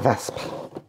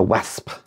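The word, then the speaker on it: Wespe: A Vesp, not a Wasp. Germans don't do that. Don't do the W sound the way we do. Of course, I love how some things we pronounce in German.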